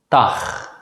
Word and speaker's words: dag: For the sake of simplicity, we'll just pronounce the letter G as a voiceless consonant G in this class. Let's practice 3 example words. Gat, geest, dag.